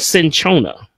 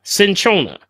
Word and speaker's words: cinchona: I want to talk about today is called cinchona okay essentially and I'll spell that for you see I in Ch Oh in a cinchona okay okay cinchona is basically they call it